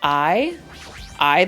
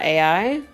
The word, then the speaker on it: AI: do it what's this it's pronounced I I the somnium files it's not AI oh this looks like